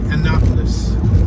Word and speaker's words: Annapolis: That's how you say it, Annapolis. I think I said it differently earlier.